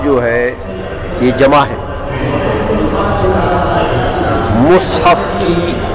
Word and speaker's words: مصحف: جمع ہے مصحف کی، مصحف کا لفظ جو ہے یہ فصیح ہے، اور مصحف بھی اس میں جائز، میم پر کسرہ بولے مصحف تو بھی جائز تلفظ ہے، وارد ہے اس کا، لیکن فصیح لفظ کون سا ہے؟